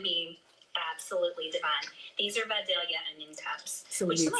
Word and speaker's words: Vidalia: These are Vidalia onion cups. So we need sweet onions. And I'm a Georgia native. All right. Somebody said Shout out to the South. it's actually pronounced Vidalia.